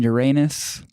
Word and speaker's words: Uranus: in the orbit of uranus or Uranus as Victor told this is the right way to say it Nina the Lowell Observatory